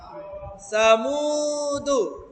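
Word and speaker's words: ثمود: এটা কি সুনা স হবে না এটার নাম সা উচ্চারণে সা থাকবে সামুদু আরেকবার এই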